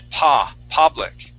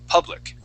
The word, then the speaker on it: public: word public okay so this U is going to make an uh sound you had said P public using more of an A okay we want to use an uh public P public try that